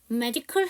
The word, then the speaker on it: medical: 자, 두 번째, medical 할 때도 A가 묵음이에요.